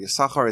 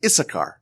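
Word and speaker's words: Issachar: Torah about uh yakar yakar is the is the one of the sons of Jacob isachar I think it's pronounced in English and when Jacob is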